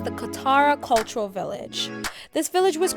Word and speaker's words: Katara: Next up, guys, is the city of Qatari. It is a city inside of Doha, and we are having a guided 15-minute walkthrough. So let's check it out. So guys, correction, it's actually pronounced the Katara Cultural Village.